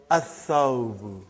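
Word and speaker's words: الثوب: So, brother, whenever there is a sun letter, you will not pronounce lam. You will not pronounce lam. Tha, what is the noun given? Athawbu.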